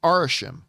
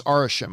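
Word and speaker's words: Arishem: says the celestials particularly arishim and I hope I'm not mispronouncing this I think it's arashim I think that's how you pronounce this celestial's name the big giant red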